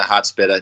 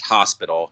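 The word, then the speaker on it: Hot Spitta: But, anyway, so as I kind of rambled about in the intro here, we will be discussing Currency, the Hot-Spitta, not, in fact, Hospital.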